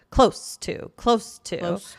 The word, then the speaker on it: close to: So CLOSE. Right? Yeah. So this one has a soft S sound, right? And it's short, right? So close to, right?